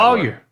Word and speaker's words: lawyer: e r say that lawyer law rhs with flaw it doesn't rhyme with boy lawyer lawyer yeah law